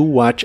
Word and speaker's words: watch: usaremos la frase to watch a movie que significa ver una película la t de la palabra watch no se pronuncia y watch también es